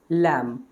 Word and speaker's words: lamb: तो यहाँ पे आप ये समझे, वुल्फ मतलब भेड़िया, सो इट is pronounce as wolf, and this is लैम। बी is silent hair, लैम।